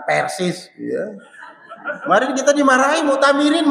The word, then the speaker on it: Persis: Ya, ingat ya, bacanya persis, bukan persis.